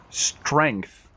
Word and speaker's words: strength: a wrong page night strength strength strength look at the tongue between the teeth strength wrist wrist your